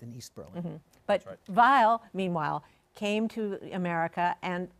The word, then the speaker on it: Weill: as American as possible he changed the pronunciation of his last name not the spelling but now it's while he's Kurt while he spoke German as